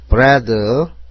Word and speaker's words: bread: bread, B는 비읍, R은 리을, E는 에, A도 에. 같은 소리는 하나로 보죠. D는 디귿. 그래서 bread가 됩니다. A가 묵음이 아닙니다.